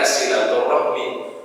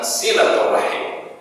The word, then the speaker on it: silaturahim: Cuma pengucapan di kita silaturahmi. Kalau pakai bahasa Arab yang pas memang silaturahim, ya Pak ya.